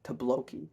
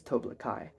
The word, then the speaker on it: Toblakai: return IA the toai I am saying it right by the way I know in the past videos I've called it tooi cuz I'm stupid but I know it's toblakai and that sounds much better than what I was saying